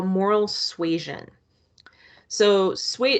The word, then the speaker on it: suasion: what we call moral suasion so sweet if you're thinking suezen that sounds like the word persuasion you are right so moral suasion uh